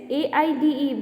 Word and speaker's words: aide: Third is aid and again next is AIDE. Both the pronunciation is aid.